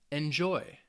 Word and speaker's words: enjoy: But if the verb has 2 syllables for most of the time, it's going to be on that second syllable.